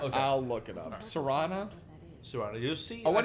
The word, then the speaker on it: Serana: By the way, my name is Serana. Is Serrano? Yes, Wow! S-E-R-A-N-A. I've been saying it wrong Yep.